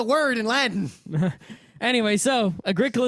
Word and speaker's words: Agricola: Anyway, so Agricola is what I'll say either way because that is our funny mispronunciation, or in Rim's case, correct Latin pronunciation, right?